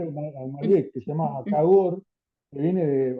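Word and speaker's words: Кагор: Marc que se llama Cagor, que viene de, o sea, la pronunciación porque no hay no Y H en ruso se pronuncia como G, ¿no?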